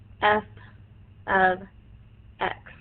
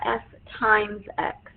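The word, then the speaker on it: f(x): x that's saying the function of X we pronounce it f of X it is not f * X it is f ofx meaning function of X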